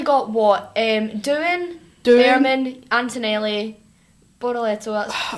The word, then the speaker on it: Bortoleto: speaking of Sauber, Bortoleto, is that how you pronounce it?